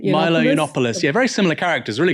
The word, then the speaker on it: Yiannopoulos: What do you know how to pronounce his last name? Milo Yiannopoulos.